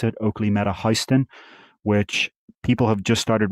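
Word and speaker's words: HSTN: I've learned how to pronounce it. Oakley Meta Histen, which people have just started receiving the limited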